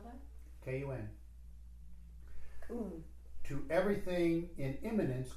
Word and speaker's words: Kun: Now, spell that? K-U-N.